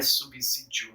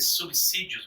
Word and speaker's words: subsídio: subsídios gente não é subsídio não é subsistência é subsídios mesmo viu subsídio subsistência subsidiar alguma coisa tem muita gente boa falando subsídio aí com o z não existe nem na escrita